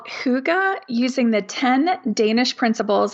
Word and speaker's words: Hygge: The Danes would say something like Hygge. They kind of swallow it. But the accepted international pronunciation is Hygge. Hygge.